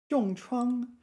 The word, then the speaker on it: 重创: 重创, yeah, 创 is a 多音字, so this one is pronounced first tone here.